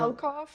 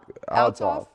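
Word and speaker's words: Althoff: Alcoff? Alcoff? Is that how you say Alcoff? it? Alcoff. Alcoff. Altoff.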